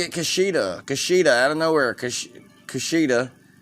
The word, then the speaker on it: Kushida: Kushida. I'm saying it right. Kushida. Yeah, because it sounds like Hakira Shida.